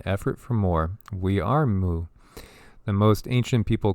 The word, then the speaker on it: Mu: ancestors teach us that pronounce moo like in a cow is the indigenous name